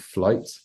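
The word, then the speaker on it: Flyte: amazing by a band called flight who are based in the UK I don't know if you've heard of them I haven't I'm gonna look them up yeah so it's spelled f ly T um and they're they're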